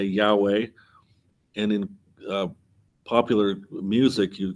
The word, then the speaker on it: Yahweh: Because of Nehemiah, we can pronounce the name of God. And so when we encounter this, we can say Yahweh.